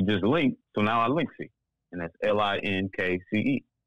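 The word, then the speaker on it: Linkce: link so now our linksy and that's l-i-n-k-c-e why is it spelled c-e though when if i was looking at the word l-i-n-k-c-e i don't think i would say linksy because you can't say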